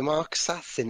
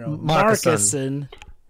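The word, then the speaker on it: Marcassin: So Mark Sassin is surprised. Is that how you pronounce it? Mark Sassin? No. Marcuson. I've been pronouncing it Mark Sassin. Like he's an assassin, oh god.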